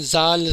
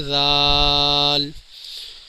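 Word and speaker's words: ذ: اینڈ میں آئے گی۔ بہت سے ناظرین زال زال پڑھتے ہیں، یہ بالکل صحیح تلفظ نہیں ہے، صحیح تلفظ ہے زال۔ را، زا۔ ناظرین، را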